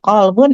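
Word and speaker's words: قلب: huruf nanti beda artinya qof dengan kaf akan berbeda artinya kalau kita tidak tepat dalam pengucapan. Misal kalau qolbun artinya hati, kalau kalbun artinya maaf anjing dalam bahasa Arab.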